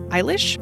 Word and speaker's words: Eilish: entire video of Billy let's ensure you're pronouncing part of her name correctly ish it's like Irish but iish the origin of this